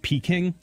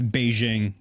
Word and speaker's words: Beijing: That's Beijing. They just, Man, you know, us English speakers like to not say things the way locals say them, so we just kind of say whatever we want.